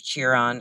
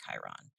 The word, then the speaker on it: Chiron: There's Chiron or Chiron. I'm not sure how to pronounce it. I think most astrologers call it Chiron, and that one is about pain.